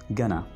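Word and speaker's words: gonna: Normally हम इसको गोइंग to pronounce करते हैं, लेकिन अंग्रेज इसको कैसे बोलेगा? वो बोलेगा गना।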